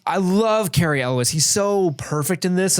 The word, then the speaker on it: Cary Elwes: So I went on to Google and was like, how do you pronounce that? And that is what Google spat out at me. Cary Elwes.